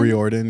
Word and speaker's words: Riordan: How do you pronounce it? Riordan? Riordan, yeah.